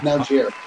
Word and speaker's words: Malgeri: Is that how I pronounce it? I did. Malgeri.